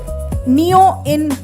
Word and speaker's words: Neoin: I would like to call Jyotirmaya Mohanty, founder and CEO, Neo in PTE Limited. I hope I pronounced it right. It's Neoin. Neon. Okay. I is silent then.